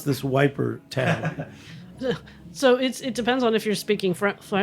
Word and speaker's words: Ypres: So it's Ypres in French, Ypres, or Yper, Ieper, if you're Flemish. And the British just call it Wiper.